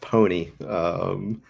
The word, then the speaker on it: PNY: This one's actually Okay. pronounced pony, believe it or not.